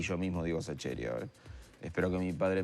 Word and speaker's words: Sacheri: Entonces yo mismo, como hacemos en Argentina, lo castellanizamos si es Sacheri, Sacheri, Sacheri, y yo mismo digo Sacheri ahora.